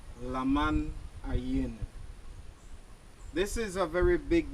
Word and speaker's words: Lamanai: go into the forest lamman is not the real name of this place the archaeologist have found out when the Europeans came here they mispronounce the real name of this Maya City the real name of the Maya City means submerged crocodile the real name of the city is Lan aen this is a very